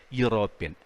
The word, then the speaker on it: European: My family is planning a European tour. Here, European begins with a vowel, but it is not a vowel sound. It's a consonant sound. So we say, my family is planning a European, ya sound, a European tour.